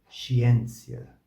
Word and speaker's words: scientia: Estas duas sílabas têm o som de che, che, che, e depois de chi, chi, chi. Assim, esses exemplos são descendit, descendit, descendit, e depois scientia, scientia, ciência.